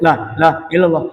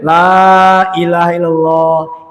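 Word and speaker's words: لا إله إلا الله: Apa si pendek? Lailahallah. Lailahaillallah. Enggak gitu. Dibacanya lailahaillallah itu masuk semua yang empat.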